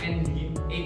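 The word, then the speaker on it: nginx: ada di situnya tapi ini bacanya engine X artinya ng ini bacanya ng X paham ya cuma bacanya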